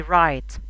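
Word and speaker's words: write: طيب إذا جات الدبليو وبعديها ار، الدبليو لا تنطق، تكتب ولا تنطق، زي رايت، wrong.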